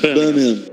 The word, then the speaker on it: Birmingham: I try and say it like the locals. Like Birmingham.